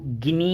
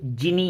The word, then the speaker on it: Gini: हम अगर अपने हिंदी भाषा में कहें तो गिनी इंडेक्स, और अगर हम यूरोपियन लैंग्वेज या वेस्टर्न लैंग्वेज के हिसाब से कहें तो जिनी इंडेक्स। तो प्रोनाउंसिएशन में कोई भी चीज़ आए आप कंफ्यूज ना हो।